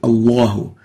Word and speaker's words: الله: لفظ الجلالة Allah here we don't say يعلمون الله, we say الله. Allah is تفخيم. When the sound of the letter resonate to fill the whole mouth.